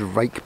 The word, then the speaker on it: Ruike: now i'd never heard rake before it's spelt r-u-i-k-e so it's not spelt like rake but that's how it's pronounced they look very similar